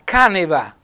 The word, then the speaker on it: caneva: La caneva, anche qui accento tonico sulla A, è la cantina.